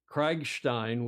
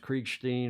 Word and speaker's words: Kriegstein: And likewise, Spencer Kriegstein, we figured that's how it can be pronounced Kriegstein or Kriegstein, depending upon whether you're German or Yiddish or however the pronunciation best suits you.